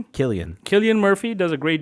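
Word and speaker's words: Cillian: I think Sillian, how do you say his name? Killian.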